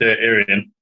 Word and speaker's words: Aareon: way of saying it so it's pronounced Aran but sometimes I go